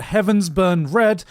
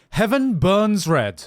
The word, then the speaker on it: Heaven Burns Red: in this recording because the Game's name is not Heavens burn red it is heaven Burns Red so we're just going to have to fudge all the times I said it wrong characters which I